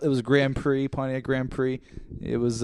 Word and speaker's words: Grand Prix: car you know it was called it was Grand Prix ponti Grand Prix it was uh which is it's a racing term if you don't know but uh what's a grand pricks that's that's how I pronounced it as a kid that's what I